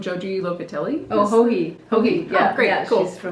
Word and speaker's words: Joji: Oh, Hohi.